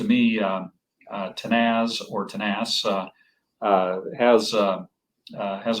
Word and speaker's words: Tenaz: went with the name um uh tanas or tenaz as we mispronounce it but we're we're quite proud to have a a Spanish name and um from the